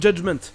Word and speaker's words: judgment: Vous trouverez aussi un soft G dans des mots comme judgment, ça vient du mot judge, où le G est déjà un soft G. Sauf que quand c'est devenu un nom, ils ont juste enlevé le E, mais le G est resté le même, judgment.